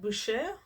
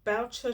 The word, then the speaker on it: Boucher: My initial instinct was to pronounce that Busher. Um, but an online article suggests that he did actually pronounce his name Boucher to rhyme with Boucher.